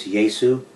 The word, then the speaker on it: Yesu: It can be spelled however, but it has to be pronounced the way that it was originally established. And so the Messiah's name is Yesu, and it's throughout history.